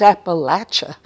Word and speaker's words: Appalachia: area, and I say, oh no, it's not pronounced that way. It's Appalachia. That's how we say it.